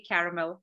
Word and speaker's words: caramel: Anybody who says caramel, I say caramel, as you can see. But that's from my British English upbringing back in India, because caramel is how they would say it. In three syllables.